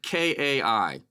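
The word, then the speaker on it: καί: can probably make out the what looks like k-a-i okay in in Greek those are Greek letters uh but this pronounced Kai it looks like it came I look like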